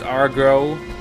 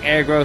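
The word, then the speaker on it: Agro: I remember someone posted in the comments that it's pronounced Argro, but I don't know where that came from, but I've never heard anything but aggro in comments. Aggro, I even looked it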